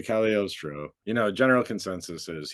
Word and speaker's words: Cagliostro: seen the name before you might have pronounced it cagliostro because there's a g in there but it's an Italian name so alesandro de calostro you know General consensus